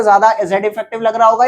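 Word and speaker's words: Z_eff: तो इसे Z effective बोल देते हैं, मैं लिख देता हूं क्या बोलते हैं इसे, Z इफेक्टिव ऐसे प्रोनाउंस करते हैं, जेड इफेक्टिव, और इसको जेफ भी बोल देते हैं।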